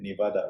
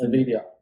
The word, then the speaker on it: NVIDIA: This one is crazy, Nevada, right? It's NVIDIA. NVIDIA. It's how to say.